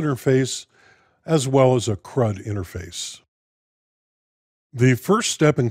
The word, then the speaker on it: CRUD: delete this scatalogical acronym is intended to be pronounced crud these four functions translate